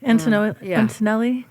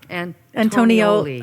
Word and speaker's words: Antonioli: And Lori from the... Antonelli? Antonioli. Antonioli, yes. I think that's how you say it.